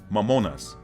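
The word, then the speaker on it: μαμωνᾶς: Mammonas, a Greek word, mammonas. Mammon in English, mammonas in Greek.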